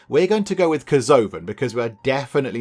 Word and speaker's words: Kerzoven: We've got Kerzoven, and that's how we're going to pronounce it. We're sticking with that, so Kerzoven, and then Veltime.